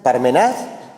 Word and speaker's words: Parmenas: Parmenas. Digo, Parmenas, Parmenas, Parmenás. Pues según donde vaya la tilde, son 3 sílabas. Pues como acaba en S, es una palabra llana.